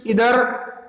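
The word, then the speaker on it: either: Each, everyone, आइदर, नाइदर, वैसे इनका pronunciation इधर और निदर होता है ना, लेकिन हमारे बोलचाल में आइदर नाइदर भी बोलते हैं हम इसको।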